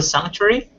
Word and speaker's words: sanctuary: The C sort of sounds like a G, so sanctuary.